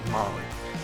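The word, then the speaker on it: MOLLE: m o l l e but it is pronounced mly uh with all the straps it allows people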